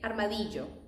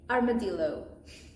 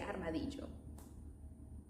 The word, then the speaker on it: armadillo: And we of course say armadjo. The armadjo is the animal. You guys say armadillo. We say armadjo.